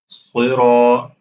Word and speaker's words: صراط: صراط. Again, same pronunciation, heavy, and then Ra is also heavy, Ta is heavy.